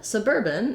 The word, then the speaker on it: suburban: Then suburban is basically like putting urban and suburb together a little bit, isn't it? And we have second syllable stress.